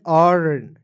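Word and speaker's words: earn: ई ए आर एन अर्न, ईयर नहीं पढ़िएगा, अर्न।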